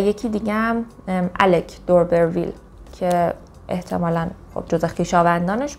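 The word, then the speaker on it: d'Urberville: و کتاب آخرمون تست دوربرویل تست آف دوربرویل اینجوری می‌خوننش.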